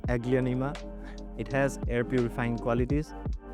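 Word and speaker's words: Aglaonema: Welcome to Pronounce American Aglan. Aglionea. So this is the first real plant that I have over here. It's called Aglionea.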